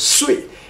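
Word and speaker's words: 祟: Pronounced as Sui.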